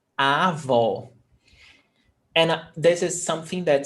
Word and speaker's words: avó: A avó, open vowel sound, o, avó.